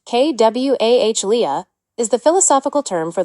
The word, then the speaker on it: qualia: Qualia, pronounced kw ah lea is the philosophical term for the raw, subjective, felt experience of being something.